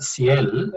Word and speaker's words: SIEL: the other vice president of seal or ciel as a former president of the organization has said or pronounces us it's it's very good